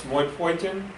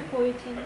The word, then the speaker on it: erythropoietin: Kidneys make a hormone, starts with a name, it's kind of hard to pronounce, moipoietin, did I say that correctly? Erythropoietin.